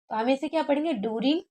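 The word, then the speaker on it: during: इसे क्या पढ़ने हैं डेरिंग नहीं बढ़ेंगे दिउ पढ़ेंगे ड्यूरिंग दी इंटर व्यू पढ़ा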